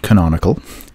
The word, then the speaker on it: canonical: you may have seen or may not it's pronounced canonical and what it does is it tells browsers